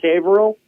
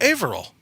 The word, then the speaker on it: Haverhill: everyone there alright Oh Averill yeah yeah like a vaudeville hat was was at an H and you'd say had Ville you go no just drop the H you'd say Advil all